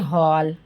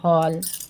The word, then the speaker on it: हॉल: इनका जो उच्चारण होता है वो आ और ओ के बीच की ध्वनि होती है, आ और ओ के बीच की ध्वनि होती है, इसको बोलते हैं हम आगत ध्वनि। क्या बोलते हैं? आगत ध्वनि। जैसे हम बोलते हैं हॉल, है ना? क्या बोलते हैं? हॉल। बोल के देखो सभी, हॉल, डॉक्टर। तो ये आ और ओ